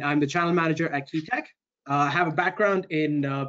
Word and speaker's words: QEA Tech: we get started uh qea Tech pronounced key Tech is short for quantifiable